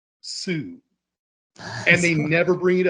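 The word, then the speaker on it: Soo: But for some reason, her name is spelled S-O-O. Sue.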